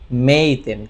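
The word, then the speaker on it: 名店: সেটাকে বলা হয় কি মেইতেন। কি বলা হয় মেইতেন। এই কাঞ্জির উচ্চারণ হচ্ছে মেই আর এটা হচ্ছে তেন, অর্থাৎ মিষ্টির দোকান অথবা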